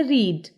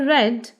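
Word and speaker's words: read: इसे कहा जाता है रीड की सेकंड फॉर्म है रेड इसकी थर्ड फॉर्म भी है रेड इसकी सेकंड और थर्ड फॉर्म में स्पेलिंग तो से रहेंगे बट प्रनंसीएशन थोड़ा डिफरेंट हो जाएगी इसकी फोर्थ फॉर्म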